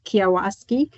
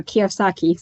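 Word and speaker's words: Kiyosaki: Here, I'm borrowing from Robert Kiwasi. No, Kiosaki, sorry, I mispronounced his name all the time.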